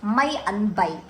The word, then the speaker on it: Maian bai: ya If you want to know how to pronounce it correctly, it's mai an bai.